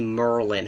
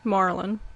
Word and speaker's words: Marlin: the relationship between uh I always want to say Merlin how do you say it Marlin Marlin because that's the name of a fish we all know the the Mi Miami Marlins baseball team and logo is a fish yeah so Marlin he